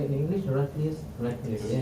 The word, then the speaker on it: Heraclius: Heraclius, yeah, Heraclius, yes.